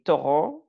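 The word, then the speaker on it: tɔgɔ: Et Toro, donc ça se dit, le G se prononce R, Toro.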